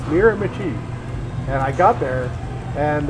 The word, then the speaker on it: Miramichi: that's north um and I didn't know it was called mirami I was calling it Miramichi people were like what are you talking about cuz that's how you spell it it's spelled mirami but it's mirami and I got there